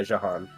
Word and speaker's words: Jahan: Jahan, is that pronounced correctly? Jahan? Yeah, Jahan. Jahan?